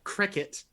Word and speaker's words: Croquet: of my screen uh cricket that is how his name is pronounced he has confirmed it uh could you please